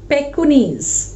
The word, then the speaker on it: Pekingese: Meanwhile, the Pekingese, that's the way we pronounce it.